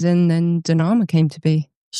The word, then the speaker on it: Danama: I mean, I say Dama, other people say Danma.